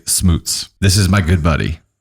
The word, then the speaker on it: Schmutz: Our family pronounces it Schmutz.